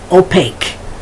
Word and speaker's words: opaque: quaint then you have the q u when the sound is just like the k such as yankee peak quechua mystique opaque okay so this is